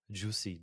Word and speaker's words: JuiSci: I never know, but actually, it's the compression of juice of science. JuiSci, juice of science.